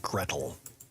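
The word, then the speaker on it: Gretel: Hansel and Greel. Uh, in English it tends to go for Gretle as opposed to Grel.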